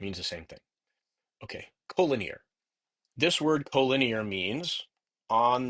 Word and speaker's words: collinear: Collinear. We pronounce it collinear.